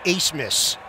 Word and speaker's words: Abmas: but a foul call the last name is a-b-m-a-s but it is pronounced ace miss and look right here